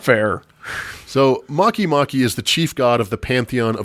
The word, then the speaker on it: Makemake: the of the gods makimaki maki makimaki spelled spelled make make as one word but pronounced probably incorrectly makimaki so let's just start